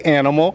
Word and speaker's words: Aminal: So just say Animal, and when you get a signature from me, you know it. I will spell it A-M-I-N-A-L. So don't worry about this Aminal. Just say Animal.